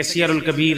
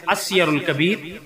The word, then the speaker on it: السیر الکبیر: غلط ہے۔ دیکھیں جیسے کہ سیر الکبیر، جامع الکبیر، جامع الصغیر، یہ غلط ہیں، اصل میں السیر الکبیر، الجامع الصغیر، الجامع الکبیر، یہ صحیح ہیں۔ اس طریقے سے یہ تلفظ ان کے درست ہے، یہاں اس کے گویا